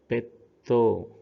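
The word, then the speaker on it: ペット: So here in the example, pe plus small su plus to should be pronounced as petto.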